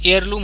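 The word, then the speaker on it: heirloom: इसमें भी हेयर है, तो आप ये H को साइलेंट मारेंगे तो ये एयरलूम हो जाएगा, तो इसलिए सब N फैमिली का है।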